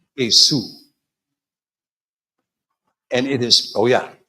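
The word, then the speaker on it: עשו: Esau, that is such an English vulgar term. The name is pronounced Asu and it is Oh yeah.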